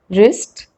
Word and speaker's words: wrist: w rule number one w is not pronounced at the beginning of a word when it comes before the letter r like in these examples right wrong ring wrist wrinkle rick and rule